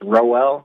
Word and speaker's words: Roel: And I just thought my name is pronounced it's Roel, like Noel, but with an R.